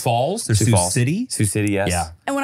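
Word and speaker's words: Sioux City: x i yes Sue it's just s Falls Su City Su City yes and when I tell you that I ignored the pronunciation in my head when I read your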